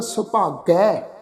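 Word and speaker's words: ਸੁਭਾਗੈ: दुलावां दी मात्रा का दुलावां दी मात्रा के टूण विच उच्चारण होवेगा सुभागै, इस ढंग नाल गै, गे नहीं गै, सुभागै।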